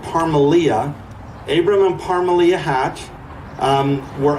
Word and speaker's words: Parmelia: Abram, and I got to look at his wife's name to make sure I say it right, Parmelia.